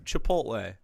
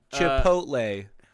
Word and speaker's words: Chipotle: Just look at how it's spelled, please. All Caucasians, just take the time. Chipotle. Uh, you know, you have to say, you say it flat as Chipotle.